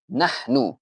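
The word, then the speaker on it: نحن: এরপরে নাহনু। আপনারা একটু আমার সাথে সাথে উচ্চারণ করুন। নাহনু, নাহনু। আমাদের মাঝখানের হাটাকে হচ্ছে ঠিক রাখতে হবে, হায়ের উচ্চারণটাকে ঠিক রাখতে হবে এবং হায়ের উচ্চারণটা সাধারণত হয় এপিগ্লটিস থেকে।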